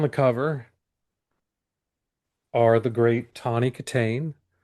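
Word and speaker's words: Tawny Kitaen: And the legs on the cover are the great Tony Katain. That's how you pronounce it.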